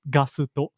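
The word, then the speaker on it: ガスト: In Japanese, it's pronounced Gasuto.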